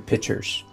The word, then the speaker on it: picture: let me explain the the real the correct pronunciation of that word is picture pic picture t-u-r-e picture picture and i'm saying intentionally i'm saying picture like a pitcher of water i don't know why i